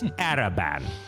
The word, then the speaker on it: Araban: Hi, Lord Erebon. Hello. Non. It's Araban, all right? Oh, sorry, I know my bad. everyone likes to say it wrong.